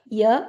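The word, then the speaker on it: यह: പറയണമെങ്കിൽ ഹിന്ദിയിൽ ഉപയോഗിക്കുന്ന വാക്ക് യ എന്നാണ് ഇവൻ ഇവൾ ഇത് യ ഇനി യഹ എന്നുള്ള വാക്കആണെങ്കിലും ഉച്ചാരണം യ എന്ന് മാത്രമേ കേൾക്കാറുള്ളൂ ഓക്കേ ഇവൻ ഇവൾ ഇത് യ ഇവിടെ ഹ സൈലന്റ് ആണ് ഇനി ഇതിന്റെ പ്ലൂറൽ ആണ്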